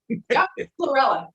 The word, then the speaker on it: chlorella: you know using uh was it corella i can never pronounce it right yeah no you're absolutely cool starts with a c and it's green chlorella absolutely well i hope